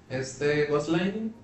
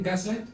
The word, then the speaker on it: Gaslight: Cuando hablamos de la película de Romper el Ciclo, Ghostlining, sí se pronuncia así, ¿no? ¿Qué cosa? El Ghostline, ¿Sí? ¿Gaslight?